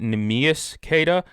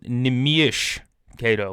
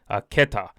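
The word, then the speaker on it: Neemias Queta: I've been pronouncing it Nimas Kada. It's actually pronounced Nimish Kada, like Nimish Kada. Keta, if you want to be more specific.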